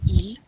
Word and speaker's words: ils: you use the pronoun ils, plural. Ils sont de San Diego. Remember, you never pronounce the S on the end of that il unless there's a vowel that follows it.